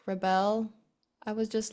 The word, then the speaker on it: Rebelle: So tell me about your artist name, which is Rebelle. I hope I pronounced that correctly. You pronounce it perfectly.